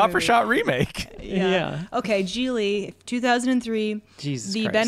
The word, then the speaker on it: Gigli: It's pronounced Gigli.